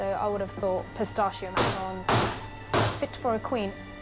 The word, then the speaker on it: macaron: as a charitable donation there's much debate about the correct pronunciation of these dainty delicacies often referred to as a macaroon but strictly speaking that's a coconut covered meringue dipped in chocolate quite different from the macarons being prepared here one thing's certain baking